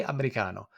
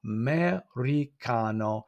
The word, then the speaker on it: americano: So we can see the americano. And you'll notice that in Italian, every single syllable is pronounced, every single letter rather is pronounced.